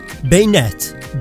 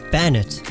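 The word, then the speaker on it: Banette: Bayonet, Bane and Marionette, not Banet.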